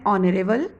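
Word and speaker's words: honourable: रहता है, हम क्या बोलते हैं, आर, एन ऑनरेबल, an honest. तो यहाँ पर एस साइलेंट है, भले वो एच कंसोनेंट है, स्टार्ट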